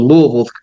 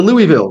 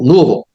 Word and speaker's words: Louisville: Well, the good the good news is you're actually pronouncing Louisville the correct way. A lot of people never been, well, I'm going to Louisville. Like, well, don't say that there. Just call it Louisville.